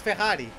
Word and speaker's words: Ferrari: I say Ferrari like we Portuguese do. Like it's just how it's said, it's Ferrari.